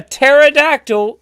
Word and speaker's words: pterodactyl: can't you hear a pterodactyl go to the bathroom ding ding ding mark because the p is silent the p is silent